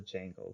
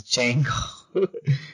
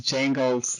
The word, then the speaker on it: Django: Yeah, he told me the D is silent, so I have to stop saying that. It's Django. It's Django / Zorro.